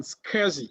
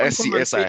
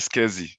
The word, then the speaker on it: SCSI: have sas drives you also have this one scurzy it is pronounced cursing take note of the pronunciation because you hear this a lot it's not s-c-s-i yes don't say s-c-s-i please please please please